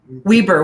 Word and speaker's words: Weber: Weber. We need to pronounce everything in Utah a little different.